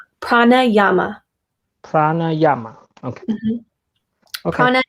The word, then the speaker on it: pranayama: Pranayama.